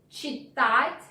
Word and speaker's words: читать: Читать книги. Well, sound ch is also challenging. Let's concentrate on it, like in English word chair, ch, chair, ch, читать.